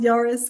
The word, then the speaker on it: Yaris: So I think it's pronounced Yaris, but Yari rhymes better with Ferrari.